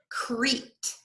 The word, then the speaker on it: Crete: go on page one crete remember these two e's e crete this e is silent steve and jean oh